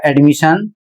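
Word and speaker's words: admission: इसमें भी देख सकते हैं आई ओ एन आया है डबल एस के बाद और इसे पढ़ा जाएगा एडमिशन और इसका अर्थ होता है प्रवेश।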